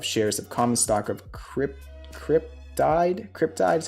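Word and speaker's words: Cryptyde: Announced that May 18, 2022 has been set as the record date for the dividend of shares of common stock of Cryptide is how you pronounce it, to be distributed to Vinco stockholders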